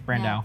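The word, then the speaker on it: Brandeau: I don't think it's Brandadu. I think it's Brandow.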